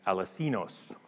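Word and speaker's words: ἀληθινός: The second time it's used in conjunction with the word light, it's Strong's word 228, aletheinos. Okay. Aletheinos, accent on the last syllable.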